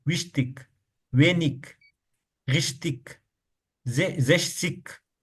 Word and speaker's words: richtig: हमने एक पीछे देखा था ना, जब भी गे आ जाए एंड में तो वो खा आवाज निकलता है। विंडिक, नेबलिक, विश्तिक, वेनिक, रिश्तिक, जेशिक।